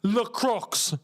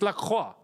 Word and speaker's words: Lacroix: No, the French pronunciation is it la? Yeah, la. La Croix. If we're gonna say it properly, it's La Croix.